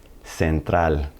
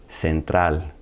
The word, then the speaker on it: central: Capal gal and then when it appears before an e or an I it's going to sound like an S Central Central normally G is going